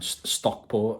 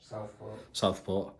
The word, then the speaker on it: Southport: Right, so ladies and gentlemen, we are here in, you're going to have to correct me on this one, Stockport, innit? Southport. Keep on saying it wrong.